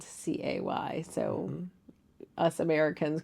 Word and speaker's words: Cay: They call it Cay even though it's spelled c a y, so us Americans call it Cay, but it's really called Cay. All right, just like Quay in Ireland Cay.